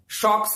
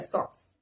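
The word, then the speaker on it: socks: ये शॉक्स नहीं बोलेंगे, नहीं सॉक्स बोलेंगे, ये गलत है। सॉक्स, सॉक्स, नॉट सो। ओ का साउंड नहीं आना चाहिए पूरा पूरा, हाफ चलेगा।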